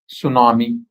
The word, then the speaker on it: tsunami: In our phonetic in our English phonetics we don't have tsu sound, t s u. So here leaving this t they gave tsunami.